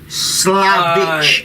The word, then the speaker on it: Vlosich: You mentioned that when you Googled it, they said, you pronounce it Slavic. Slavic is what it's V as in Victor, Losich.